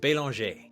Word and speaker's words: Belanger: then I thought about my last name it's banger but over there it's pronounced belong right it is a French name even though my family's